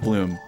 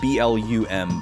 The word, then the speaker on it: Blum: Uh, wise man says, "Yeah, Bloom is spelled B L U M, by the way, spelled like blum, pronounced like bloom."